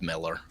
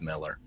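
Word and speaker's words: Millar: familiar with Mark Miller, and he it's just pronounced Miller. Uh it's spelled Mar and everybody says Mar, but it's pronounced Miller.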